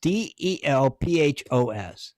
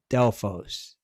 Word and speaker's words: Delphos: there by doofus del delphus delphus or delfast yeah it's d-e-l-p-h-o-s delphos elfist i guess you're right something nope i've always pronounced it delphos okay i i don't